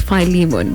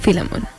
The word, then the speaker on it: Philemon: Apparently, it's supposed to be pronounced as Philemon, but most of us grew up knowing that it's Philemon.